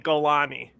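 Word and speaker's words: Jolani: his name is literally Golani though right like he's from the Golan Heights that's what it's just we spell it with a J but it's really a g it's Abu Muhammad gani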